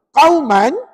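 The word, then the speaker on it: قوما: Jadi cara bacaannya, qauman kan baris dua kan. Perempuan tukar jadi baris satu. Qauman jadi qauma. Sebut. Qauman jadi qauma. Amma tu pendek, jangan panjang.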